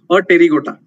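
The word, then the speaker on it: Apterygota: A pterygota. Okay, now T here is silent. Now a pterygota means without wings.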